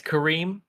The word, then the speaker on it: Karim: Did I pronounce that correctly? Yeah, it's Karim, and you got Jovian correct.